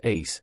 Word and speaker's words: ASE: "Well, anyway, I call it the ASE, pronounced Ace, the all-seeing eye.